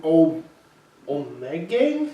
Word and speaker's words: Ommegang: This is brewed from Ommegang? Is that how you say it? Ommegang, yeah.